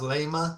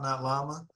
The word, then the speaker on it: Llama: I liked I liked uh was it riding my It's pronounced layma. He says, not llama.